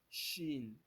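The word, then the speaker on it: شين: s h c h Shin Shin Shin this Shin Like s you pronounce it with SH or CH like this sound letter in English this sound letter in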